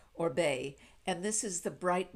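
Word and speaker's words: Oribe: o-r-i-b-e or Reeb but it's spelled but it's pronounced orbe and this is the bright blonde for beautiful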